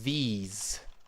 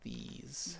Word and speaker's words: these: But the pronunciation of this one is a these, these. These. Okay. So you have a long e sound.